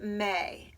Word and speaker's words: Mae: the first day of May, but they're spelled differently. May, our friend, spells her name M-A-E, and the month May is spelled M-A-Y, but they sound the same.